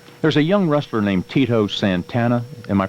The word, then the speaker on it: Tito Santana: but not before there's a young wrestler named Tito Santana am I pronouncing his name right yes sir yeah what